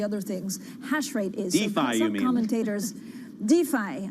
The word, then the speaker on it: DeFi: things hashrate is commentators defy i say daffy the european style of course mispronouncing it so defy the so-called